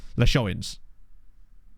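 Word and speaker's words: Leixões: The L has the normal pronunciation. The pronunciation of an A, like in paper. So, le. Pe. Le. Sh. Leish. O's. On. Plus the word... Hang on. Pronunciation of the word on plus the word in. So, leishoin. Leishonins. I'm not sure this is going to help me, really. Phonetically writing it out like that is... I'm just going to have to listen to someone say it, basically.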